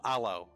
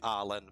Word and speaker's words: aloe: Oh, aloe. Becky pardon. Sorry. Okay. Yeah. Oh, the E is pronounced. Oh, right. Sorry. I was for some reason I thought you saying Alen for for some reason.